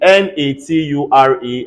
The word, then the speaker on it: nature: clear in m-a-t-u-r-e everybody say mature um in n-a-t-u-r-e everybody say nature all right and um c-u-l-t-u-r-a-t